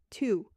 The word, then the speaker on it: toux: Pronounced toux.